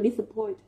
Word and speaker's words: disappoint: Vậy thì cô suy ra với cái động từ là disappoint, trọng âm sẽ rơi vào point âm tiết thứ 3 của từ nhá.